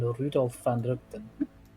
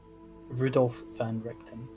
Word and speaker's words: Rudolf van Richten: Barometus is, last I heard, dead now at the hands of one Rudolf van Rugten, who I assume must be the man in the page here. say his name again. Rudolf van Richten.